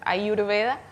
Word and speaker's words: ayurveda: Cómo es esto bueno se la pronuncia en sánscrito que es su idioma original es ayurveda quiere decir la ciencia